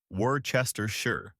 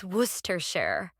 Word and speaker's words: Worcestershire: I've heard Worchester. Worcester. I'm just going to guess. Worcester. Not even close. It's worersershure.